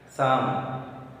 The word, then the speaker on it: psalm: Next, Psalm. P is silent letter, L is silent letter.